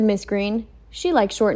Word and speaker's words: Greene: mr and mrs green that's green with a silent e at the end discover that they were